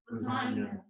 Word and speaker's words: lasagna: Say this word out loud. Lasagna. Lasagna. You don't say the G, man. It's silent. Lasagna.